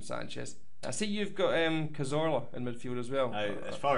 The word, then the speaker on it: Cazorla: Because me hablo español, I'm going to pronounce it Cazorla. Okay. Being a Glaswegian, can... He'd be Santi Cazorla.